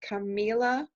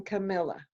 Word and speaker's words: Camilla: didn't listen to it, Camilla's name is pronounced Camila the whole time, and it gave me a different persona than it would have if it had been Camilla.